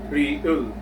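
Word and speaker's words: 리을: Has the equivalence of either letter R or letter L. Meaning to say, this real consonant letter can either sound as letter R or a letter L in a word.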